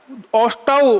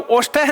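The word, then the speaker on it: ओष्ठौ: ओष्टौ, ओष्ठः नहीं, ओष्टौ। इनमें किन्ना कि दोनों ओष्टौ क्यों आया?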